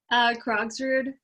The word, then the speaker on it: Krogsrud: Krogsrud.